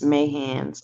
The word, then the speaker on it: Mayhands: Where I'm from, that's how we pronounce ma. So that's why I was like living with my hands. But it's Mayhands. Okay.